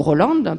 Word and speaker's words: Roland: essentiellement par les Allemands, appelé Roland, ou Roland, prononcé en allemand.